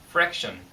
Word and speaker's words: fraction: fraction. 그래서 발음하실 때 R 발음 주의하시고, 자, 분수는 자연수가 분모와 분자에 있는 숫자가 많았는데요.